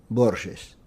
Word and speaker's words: Borges: prononcer votre nom en général chez moi on prononce Borges mais peut-être cette jeu offre quelques difficultés au